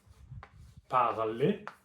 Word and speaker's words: parler: the ER verbs, is this sound I is only an infinitive, parler, to speak. And when you actually use the verb in a sentence, you have to drop this I sound from the ER.